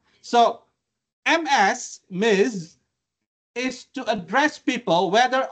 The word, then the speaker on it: Ms: about Ms M so m i SS you pronounce it with s m but Ms with Z Miz so Ms Miz is to address people whether or not they